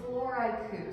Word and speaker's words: Floraiku: Floraiku, so flower plus haiku.